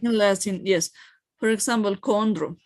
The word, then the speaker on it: chondro: so we pronounce it like like we were pronouncing and body right unless yes for example chondro not Chandra of course all right Keith not keep okay